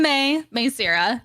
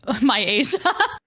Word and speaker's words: Maesira: nice to meet you I'm may may s is how you pronounce my name please don't call me my Asia like AO does um